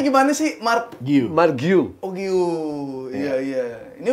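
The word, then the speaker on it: Guiu: lagi di Barca ya golin di Deb golin dibacanya gimana sih Mar Mar guu Oh guu iya iya ini udah kalau Jawa guyu Mark guyu ya kan Mark guyu emang ah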